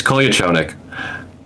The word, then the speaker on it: Kolyachonok: No one learned how to say his name, but it's Kolyachonik.